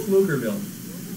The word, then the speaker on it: Pflugerville: How do you pronounce the town she lives in? Oh. Pflugerville. Pflugerville? Pflugerville.